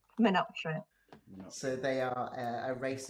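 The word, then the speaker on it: Menoptra: I think Theo might have to pronounce it. Menoptera. Menoptera.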